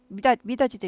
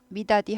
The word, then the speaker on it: 미닫이: 같아 어쨌든간에 굳이 해돋이 미닫이도 있다 그랬죠 미다디 하지 않고 미닫이 지읒 발음 나죠 그래서 한국말 한국말과 영어는